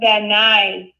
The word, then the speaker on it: Van Nuys: calling back yeah yeah it's actually pronounced Van Nuys gen9 Van Nuys I'll remember that next